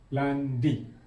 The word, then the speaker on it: lundi: Isnin dalam Perancis dipanggil lundi. Lundi. L U N D I. Yang ini I. Kita dah sebut dalam alfabet hari itu. Yang ini I. Lundi sebutannya.